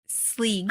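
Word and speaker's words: Sgaeyl: Sleeg. I don't know how to say it. That's the way the audiobook pronounces Sleezag? it. Sleeg. Just Sleeg.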